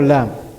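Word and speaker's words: ل: we have the letter lam lam where is Lam pronounced from the sides of the tongue the front side of the tongue the front side of it I'm pulling pulling right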